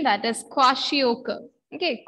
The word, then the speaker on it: kwashiorkor: Pronunciation, that is kwashiorkor. Okay, kwashiorkor.